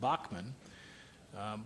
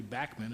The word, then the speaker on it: Bachman: calls himself bman uh here in the United States we've always pronounced it Bachman U but uh he says that it's actually Bachman and that's how he pronounces his name he's a big Radio